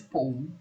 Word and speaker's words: poem: is poem in up it's always two syllables you know it's poem